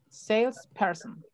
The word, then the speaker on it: salesperson: Luego aquí, palabras de tres sílabas donde la primera sea la que tenga la sílaba tónica. Sales. Salesperson.